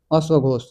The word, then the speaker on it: अश्वघोष: अश्वघोष भी इसमें है तो का जो है साइलेंट कर दीजिएगा घोष से क्या हो जाएगा अश्वघोष अश्वघोष ये चार चौथा में ये